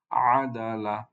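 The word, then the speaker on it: عدل: এর পরবর্তী শব্দ, তার প্রথম লেটার হচ্ছে আইন, তার উপরে ফাতহা, উচ্চারণ বা সাউন্ড হবে আ। তারপরে লেটারটা হচ্ছে দাল, দালের উপরে ফাতহা, সাউন্ড হবে দা, আদা। এরপরে লামের উপরে ফাতহা, সাউন্ড হবে লা, আদালা। এটাকে কিভাবে পড়বো? আদালা, আদালা, আদালা।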